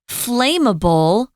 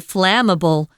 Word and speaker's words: flammable: This is pronounced It's the short A, flammable. Flammable.